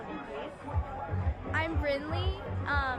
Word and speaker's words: Brynlee: I'm Brinley. It's spelled Brynlee.